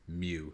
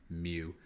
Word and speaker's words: mu: letter and it's pronounced mu it looks like a u but it's pronounced Mew um maybe that joke